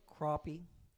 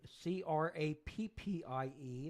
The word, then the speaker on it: crappie: Catfish, bass, bluegill, crappie. And crappie is spelt like crappie. Is it? C-R-A-P-P-I-E. If you want to type that out on there, that's crappie. I don't know why it's not C-R-O-P-P-I-E.